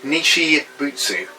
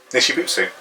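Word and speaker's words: Nichibutsu: They're called Nishibutsu. Nishibutsu?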